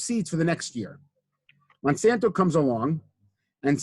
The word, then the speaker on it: Monsanto: Monteso, I forget how to pronounce that. Monsanto.